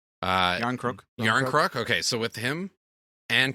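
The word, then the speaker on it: Järnkrok: Yarncrook.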